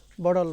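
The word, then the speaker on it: bottle: যেমন বটল, বটল মানে বোতল আর কি, তো এই ব্রিটিশরা বলে বডল, বডল, বডল, মানে টি উচ্চারণ হ্যাঁ করে না, বডল, বড়ল।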